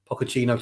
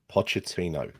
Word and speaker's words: Pochettino: keep him because I think he's a very pocochino type player you do a lot of puppuccino